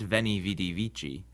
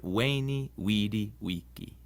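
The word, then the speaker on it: veni, vidi, vici: The V in Latin is pronounced like a W sound. So Caesar's famous saying isn't veni vidi vici, but veni vidi vici.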